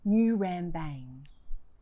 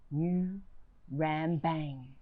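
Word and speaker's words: Ngurambang: I was born on New Rambang. Can you hear it? New Rambang. If you say it right, it hits the back of your mouth and you should taste blood in your words.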